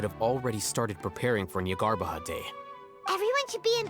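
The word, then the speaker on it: Jnagarbha: Don't forget, today is Nyargarbaha Day, arguably the most important day to the Academia. So we don't pronounce the J, okay.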